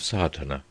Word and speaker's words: Sadhana: about the pronouncing of satana the accent Falls decisively on the first a which has the broad sound of the letter chapter 1 the relation